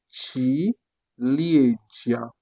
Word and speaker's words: ciliegia: Parce que vous voyez que le C est devant I, comme on a dit, on le prononce donc chi. Donc, on aura ciliegia, qui signifie en français cerise, ciliegia, qui se prononce, qui est le mot cerise en français.